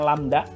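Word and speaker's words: lambda: panjang gelombang simbolnya seperti huruf y Terbalik ini dibacanya lamda yaitu jarak antara dua titik dalam satu periode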